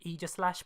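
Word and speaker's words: Aegislash: his age of slash i know it's pronounced eager slash but it just rolls off the tongue better saying age slash plus each slash to me sounds pretentious i'm not going to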